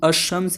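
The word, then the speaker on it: الشمس: अब देखिए, एक होता है जब हम अशम्स लिखते हैं तो आपको क्या दिख रहा है, ये जो अलिफ लाम है वो साइलेंट है ना, तो वो अल्फाज जिसमें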